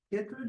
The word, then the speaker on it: chytrid: So chytrid, is that how you pronounce it?